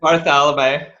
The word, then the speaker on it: Bartholomae: We are here with video engineer Sean Bartholomae. Did I pronounce that correctly? Because I always have a trouble pronouncing the last Pretty close. Bartholomae.